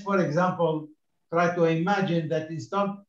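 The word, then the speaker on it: ث: Now, let's for example, try to imagine that instead of two dots here, you have got three dots. So it's a tha, okay?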